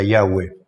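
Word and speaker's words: Yahweh: es traducción del tetragramaton sin las vocales yahwe sería la pronunciación como el nombre se escribió inicialmente sin vocales su pronunciación es incierta hay muchísimos este ensayos discusiones sobre esto Bueno lo que yo he llegado a entender es que la mejor pronunciación en el hebreo sería yahwe la Reina Valera lo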